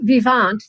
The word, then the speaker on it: Vivant: So Vivant, that's the way one would pronounce it because it's a French word, means alive or living in French.